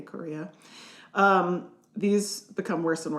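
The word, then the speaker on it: chorea: It's spelled C H O R E A Korea.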